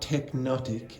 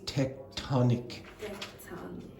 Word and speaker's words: tectonic: It's not tectonic, it's tectonic. Tectonic.